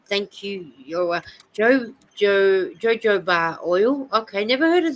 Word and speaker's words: jojoba: Oh, you might have heard it pronounced, jojoba. I know it's a weird way to spell it, but they say it jojoba.